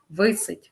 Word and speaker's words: висить: наголос на другій склад висить наголос на перший склад новий чарівний фаховий наголошуємо